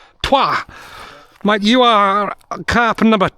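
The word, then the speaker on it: trois: Twah.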